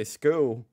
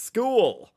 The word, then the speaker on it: school: Oh, you got to pronounce every letter. You know what I mean? You can't say skoo. Skoo. It's school.